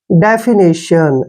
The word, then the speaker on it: definition: Next, DEFINITION, देखिए इसको कैसे पढ़ना है? डी का जो उच्चारण है हम क्या करते हैं? डे, ठीक है ना, DE को यहाँ पर डे पढ़ना है, FI को फी, ऐसे डेफी, डेफी हो गए ना। NI का उच्चारण नी करेंगे और TIO को हम श पढ़ेंगे और एन को न। डेफिनेशन, ऐसे डेफिनेशन। डेफिनेशन क्या होता है?